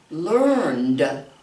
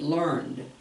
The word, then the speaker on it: learned: Learned. Learned. Just the that with the D sound at the end of it. Learned.